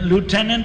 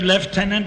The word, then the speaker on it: lieutenant: made it colonel let lieutenant or left-tenant however you want to pronounce it is made a